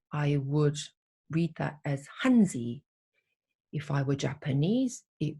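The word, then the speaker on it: 汉字: would read that as hanzi if i were japanese it would be pronounced as kanji because i'm korean i read that as hancha if i were vietnamese i would go i would say hantu so the same visual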